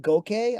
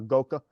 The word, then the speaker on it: Goke: It's probably GOKE, a GOKE. Probably, like Princess Mononoke, like that, where you sort of like swallow it. Right? Yeah, those Japanese leave, they leave the stress off that last syllable.